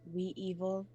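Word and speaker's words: Wevil: cool name and it's it would be spelled w-e -v-i-l so it's we evil and then it just rhymes with navel so why not add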